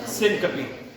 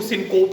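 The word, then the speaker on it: syncope: सिनकपी. ठीक है, इसको सिनकोप नहीं कहना, इसको सिनकोपी भी नहीं कहना, इसको सिनकपी कहना.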